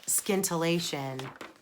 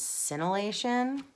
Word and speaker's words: Scintillation: pronunciation of this pattern it is not scintillating as hilarious as that is apparently that is scintillation it will always be